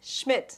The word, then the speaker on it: Schmid: Ladies and gentlemen, welcome to City of Confidence TV, and today we have a very special guest, Nathan Schmidt. That's how you pronounce it?